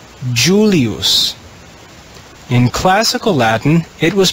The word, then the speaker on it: Julius: in classical latin as you li us you in church latin that changes that first letter e is written with jay the word in church latin is pronounced julius in classical latin it